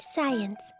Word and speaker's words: science: like tutored me for it's pronounced science the sea is silent well I like got